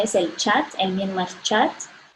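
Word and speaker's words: kyat: La moneda local es el Chat, el Myanmar Chat. Se pronuncia Chat, pero se escribe K-Y-A-T.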